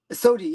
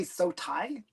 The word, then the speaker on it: SOTI: Sodi. Yeah, I pronounce it Sodi. Some people say Sotai, but I always say Sodi.